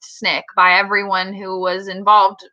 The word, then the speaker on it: SNCC: the consequences and the reproduction yes SNCC is pronounced snick by everyone who was involved in snicks oh